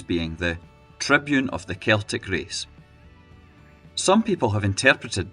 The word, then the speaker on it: Celtic: Walfrid wanted the name to be spoken as Celtic, which did not happen. An 1892 newspaper article also said this was the way that Davitt pronounced the name, although again it was